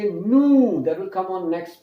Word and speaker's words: nous: It is written N-O-U-S, but the S, the last consonant sound is not pronounced. Remember, in French, the last consonant sound is not pronounced. So it is nous.